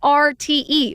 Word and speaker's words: Arte: And like, And it's ARTE, right?